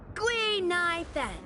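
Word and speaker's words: Guinaifen: up with an authentic name based on the pronunciation gu NY Fen gu means finewood NY means to exist and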